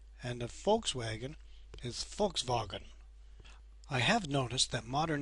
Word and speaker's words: Volkswagen: like a V and the V is pronounced as if it were an F for example a BMW is actually called BMV and the Volkswagen is Volkswagen I have noticed that